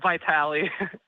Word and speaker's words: Vitali: Vitali, first of all and most importantly, am I pronouncing your name correctly? It's Vitali.